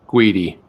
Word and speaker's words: Guity: We have Guity. Rhymes with, not going to say it. Not going to say it. Oh, okay, Jeff. Rhymes with Sweetie.